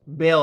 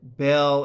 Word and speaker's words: Baal: ball Bell b ball how is it pronounced Bale I think is how it's usually pronounced right um now yeah I